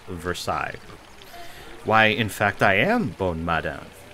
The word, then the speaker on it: Versailles: the finest courtiers of Versailles or Versailles I don't know how do you guys pronounce that I've always heard it in uh history classes Versailles why in fact I